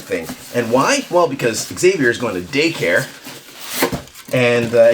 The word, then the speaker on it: Xavier: But yeah, he was almost named Parker, but we went with Xavier, which works out because in Portuguese that's pronounced Xavier, which sounds pretty cool.